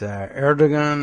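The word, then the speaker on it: Erdoğan: How does he pronounce that name, by the way? It's Erdogan.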